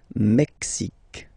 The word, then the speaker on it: Mexique: Mexique. It's really the X. Huh? Le Mexique. And then remember this Q-U-E, it's only K.